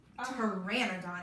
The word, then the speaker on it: Pteranodon: Yeah, that's a really good way to look at how to spell it. They asked the P-T-R-A-N-O-D-O-N. Pteranodon.